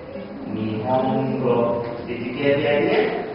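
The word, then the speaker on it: 日本語: So you've got to pronounce that n with the same amount of time that the other moras. So we're going to say nihongo, nihongo.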